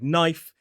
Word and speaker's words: knife: also remember some common words like knife that has a silent K.